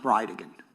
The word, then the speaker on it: Bridegan: It's Jared Gallen Bridgen. And I'll represent to you that it's pronounced bride again.